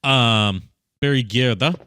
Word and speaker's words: Gjerde: Barry Gjerde, I believe it's pronounced. He's Norwegian.